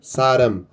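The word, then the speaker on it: 사람: E a segunda é o que eu falei, o r ele tá na primeira posição, então ele vai som de r. Então saram.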